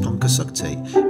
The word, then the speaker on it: Pontcysyllte: For the non-Welsh speaker, it's pronounced Pontcysyllte, meaning the bridge that